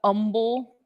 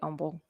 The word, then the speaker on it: Humble: low Ridge Road and is that humble oh it's spring okay I just wanted to say humble I'm from Sacramento I'm from California we pronounce our H's but um uh can